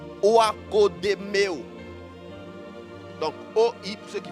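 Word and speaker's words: oikodomeo: Ça s'écrit Oakodemeo.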